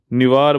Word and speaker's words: निवार: ठीक, बुरेवी हो गया, अम्फन हो गया, और आपका कौन सा एक है, नीवर। ठीक, निवार बोलते हैं, कोई नीवर बोलता है, कुछ भी है, प्रोनाउंसिएशन भी नेमिंग वाले में देता है।